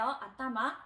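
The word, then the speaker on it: あたま: 그래서 우리가 머리라고 발음을 할 때는 아따마라고 발음을 하는데요. 아따마.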